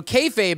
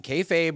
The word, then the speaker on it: kayfabe: I was going to try that um so kfabe is not a word I invented okay Fabe uh which is spelled k-a-y-f-a-b-e was a term of unclear linguistic